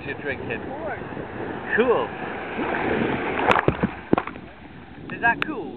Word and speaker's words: Coors: oh yeah is that cools you're drinking of course cool is that cool is that how you say it Kors ah how do you spell that say again RS oh course I thought all along